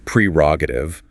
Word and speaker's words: prerogative: The correct pronunciation is prerogative with the emphasis on the first syllable.